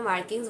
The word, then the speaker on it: Marquis: prop से ठीक है इसको हम लिखते तो वैसे मार्किस है लेकिन इसको प्रोनाउंस हम मार्की करेंगे तो जो मार्की प्रूप